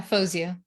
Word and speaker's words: Fowzia: great to hear i mean rosie are we pronouncing your name correctly yeah fosu that's right saying i i've had that